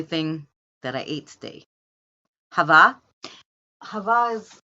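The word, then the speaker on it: halva: that I ate today Hava Havas U make me spell h a l v a Greeks they pronounce it the L is kind of silent but it's h a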